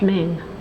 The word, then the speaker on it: Ming: these are all flers from the main Dynasty these are king queen it's pronounced Ming Dynasty I go whye there's